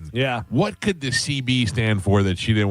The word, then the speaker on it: Seabie: to pronounce it, you just pronounce it CB.